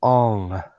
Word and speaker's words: Aang: some of the pronunciations it's not Aang it's all it's not on its